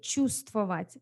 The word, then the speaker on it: чувствовать: Она чувствительный человек, чувствовать. She feels everything, right? Чувство, и when you say it, чувствовать, so you don't say the first в, it's silent, чувствовать, да?